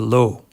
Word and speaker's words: Loo: heading to Pal the low in the Netherlands you spell it like Lou but it's pronounced like low if you want to sound stupid just say Lou our adventure begins in